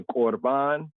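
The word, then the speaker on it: Corban: The korban, right? The korban. Now in the New Testament, there's this whole reasoning, right? In the Brit Chadashah concerning korban. They spell it in the English as C-O-R-B-A-N.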